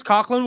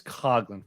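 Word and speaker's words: Coghlan: the Year it's well it's Chris cogin first I I was just gonna let you continue to say it wrong okay um is I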